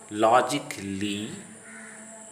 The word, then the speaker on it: logically: If a word ends in ICALLY, then A is silent, as in the following words: basically, practically, logically, automatically, specifically, chaotically. Don't say logically, basically, automatically. Don't utter cali, ikli. Silent B.